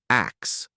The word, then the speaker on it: ask: London t-shirts too in in medieval England the word ask was pronounced ax so I suppose you